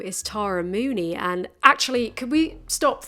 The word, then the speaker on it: Mooknee: It's pronounced Mooney, like moo as in the cow, and knee as in kneecap. It's not Tara Mookney.